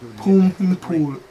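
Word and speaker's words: Bhumibol: Pum Him Pool. Pum Him Pool, yeah. Right. The B and the H, I said boom. Was Pum.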